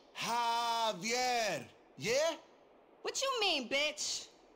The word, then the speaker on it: Javier: get it it's Javier it's pronounced like an H jaier yeah what you mean